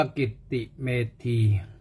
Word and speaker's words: กิตติเมธี: กิตติเมธี เ ตัว ใหญ่ iwt I M E T อ่าน ว่า กิตติเมธี อ วัน นี้ ก็